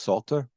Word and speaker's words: Psalter: but this song which I think is pronounced Salter uh or Salter and it's actually the